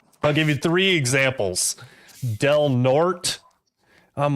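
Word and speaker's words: Del Norte: I'm like, "Okay, how do you say the name of this city?" And she was like, "Delnort."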